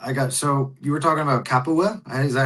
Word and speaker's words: Capua: Hey, so you were talking about Capua? Is that how you say it? Yes. Okay. Capua.